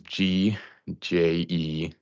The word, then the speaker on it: Gjeston: It's Gjeston, but it's like the TV show.